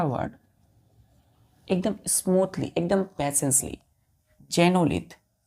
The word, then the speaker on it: xenolith: चौथा वर्ड बच्चों, चौथा वर्ड एकदम स्मूथली, एकदम पेशेंसली, जेनोलिथ। एक्स है तो एक्स को हम क्या पढ़ेंगे, प्रोनाउंस करेंगे जे, तो एक्स जेनोलिथ, XENOLITH।